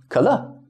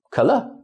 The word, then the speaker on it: 可乐: so that will be 可乐, 可乐. So we don't pronounce the full third tone. It's the semi-third tone, just a quick well, so that will be 可乐.